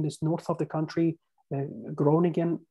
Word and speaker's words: Groningen: Groningen, or in Dutch pronunciation, Groningen gas field, which is quite giant, so it's huge.